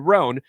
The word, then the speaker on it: Rhone: few because ironing is not fun and with rhone's wrinkle release technology wrinkles they disappear as you